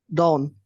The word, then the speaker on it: dawn: right good yeah so this one is dawn when you want to say I don't want you to know I don't I don't I don't you make all a bit longer so I this is Dawn Dawn do you know the